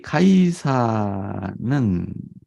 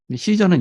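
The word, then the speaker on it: Caesar: 세금을 바치는 것이 옳으니 이 카이사는 영어로는 시저라고 하죠 근데 그쪽 지방 로마 식 발음으로는 카이사 뭐 이렇게 회사를 뭐 이렇게 또 해요 시저는 영어 cpun이고요 로마의 황제를 카이사라고 하죠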